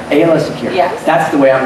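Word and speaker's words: Aayla Secura: and different ways of pronouncing. So, Ayla, how do you say her? I say Ayla Secura. Ayla Secura.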